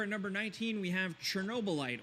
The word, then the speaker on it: Chernobylite: Next, over at number 19, we have Chernobylite, or how it's actually pronounced. It's kind of like Chernobyliat.